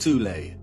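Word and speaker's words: Thule: Prior to the rise of the Nazi regime, there existed an occult secret society within Germany called the soul society, sometimes alternatively pronounced tulle, that had subfactions within it.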